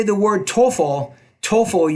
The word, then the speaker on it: TOEFL: say the word TOEFL TOEFL you want to pronounce that the tea with more air - TOEFL you I feel good